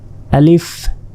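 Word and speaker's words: ألف: চেষ্টা করুন প্রথমে দেখুন আলিফ আলিফ আলিফ স্বরে লয় হস্ আর ফিলিফ শেষে ফ অনেকে প এর মত উচ্চারণ করে বাংলা প শেষে আলিফ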